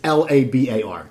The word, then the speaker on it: Labar: Jeff Labar, and it's spelled, you can go, it's Labar. Exactly how it sounds, but I know people screw up.